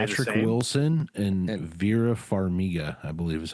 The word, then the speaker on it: Vera Farmiga: Wilson and And- Vera Farmiga, I believe is how you pronounce her name.